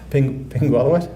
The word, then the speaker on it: Pingualuit: Pingualuit? One more time? Pingualuit? Yeah. Okay, hopefully that's it for the pronunciations.